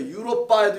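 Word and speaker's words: Europa: 유로빠에도 있고 유로빠라고 합니다. 라틴어는 오빠가 아니에요. 유로빠, 아시아 이렇게 발음하는데 유럽이라는 뜻은 밤이라는 뜻이고요.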